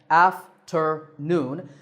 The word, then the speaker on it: afternoon: example three syllables again after noon this time the third syllable is stressed so afternoon like when we say